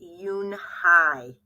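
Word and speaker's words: Unhei: turned to Joey she nodded slowly yes it's pronounced Yoon Hai it means Grace Mr Kim added Yoon Hai Joey had said slowly and this time perfectly made Yoon Hai smile I'll have it ready for you tomorrow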